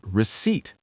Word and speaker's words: receipt: And receipt. Receipt. The P is silent.